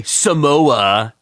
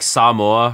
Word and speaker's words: Samoa: Like, for example, you don't say Samoa. You like say like Samoa, right?